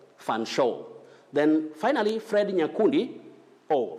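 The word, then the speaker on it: Featherstonehaugh: or chomli and then the next one you say fan show fan show then finally fred nakuni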